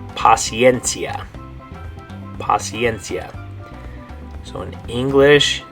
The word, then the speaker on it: paciencia: And the way you're going to say it in Spanish is paciencia. Paciencia. So in English, it's the word patience. In Spanish, it's the word paciencia.